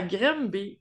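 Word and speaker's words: Granby: C'est c'est en en France, on dirait peut-être grand B, mais ça s'écrit G R A N B Y, mais ici, on dit grembé, je pourrais pas vous dire pourquoi. Euh donc au Québec, Oui.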